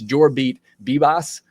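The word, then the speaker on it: Jorbit Vivas: I forgot his name when we were doing the postcast, but it's Jorbeat Bibas. Is how the pronunciation guide has it.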